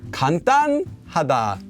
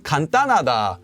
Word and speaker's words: 간단하다: Well, this one's more often pronounced as, can you guess? 간단하다, 간단하다.